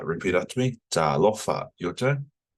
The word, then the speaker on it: talofa: So you can see here, I don't have the macrons, but I've just, so you got to drag it, Lofa. Repeat after me. Talofa.